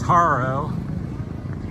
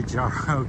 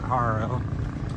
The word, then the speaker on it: Jaro: We're over in, coming up from Jaro, which is Haro. I say Jaro because it starts with a J, but they pronounce it Haro.